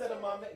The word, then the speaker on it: edamame: What's edamame? There's no accent on the E. It's edamame.